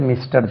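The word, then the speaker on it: Messrs: மெசர்ஸ் என்று போடுறாங்க இது மிஸ்டர் தெரியும் ரைட் மிஸ்டருக்கு ப்ளூரல் இப்படி எழுதிருவாங்க கம்பெனிக்கு அது எத்தனை பேர் இருக்காங்கன்னு தெரியாததுனால ரைட் இது வந்து உச்சரிவு பாருங்க இதுக்கு மிஸ் அல்லது மெஸ் என்று உச்சரிக்கணும் மிஸ் அல்லது மெஸ் இதை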